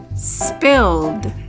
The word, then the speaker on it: spilled: We hear d at the end of the word spilled.